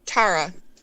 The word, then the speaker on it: Tarrah: Is Taryn? Oh wait, No, is it's it Tara? Tara. Spell it.